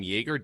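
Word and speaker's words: Joerger: They're talking to, and I believe you pronounce his name Yeager, Dave Yeager, former NBA head coach.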